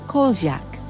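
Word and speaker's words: Kozjak: After this incident, the lake was named Goat Lake, which is pronounced as Koldziak in Croatian.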